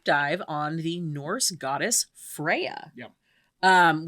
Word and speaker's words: Freyja: on the norse goddess freya um which does in fact have a mostly silent j in the way that americans say it in the way that all people say it nobody says it freyja that's definitely not i